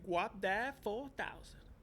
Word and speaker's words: Guapdad 4000: Guapdad 4000. Wapdat 4000. Guap. Think Wap Guap.